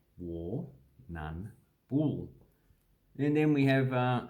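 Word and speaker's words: Warrnambool: indigenous word warning warning this one we just pronounced all about war none four okay so we don't say the r twice war none ball so if we break it down we have war none bull and then we have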